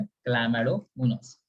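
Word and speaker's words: Chlamydomonas: इसका प्रोनाउंसिएशन क्या है, क्लैमेडोमोनास.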